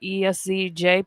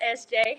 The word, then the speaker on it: ESZJAY: But it's it's pronounced SJ.